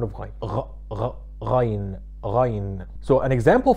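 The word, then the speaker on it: غين: The letter ghain comes exactly from the place where you do the gargling from. Like if you're gargling water inside of your throat, that's almost the sound of ghain.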